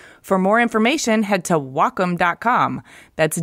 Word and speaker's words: Wacom: Wacom no Welkom no its Wacom pronounced wah like the Japanese word for harmony and come for computer the Wacom Cintiq 16